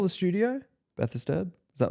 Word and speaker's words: Bethesda: Bethlehem Studios? Or is it going to be like some Bethesda. Yeah, that sounds more right.